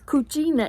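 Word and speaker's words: cucina: the kitchen oh no it's cuchina in Italian is Kitchen my Uncle Tony says it rhymes with Gina Miss Gina so there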